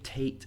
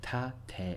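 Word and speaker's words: 縦: yes that one now again if you say tate fine I'm not asking anybody to change but the japanese pronunciation is break it down tap-tap there's a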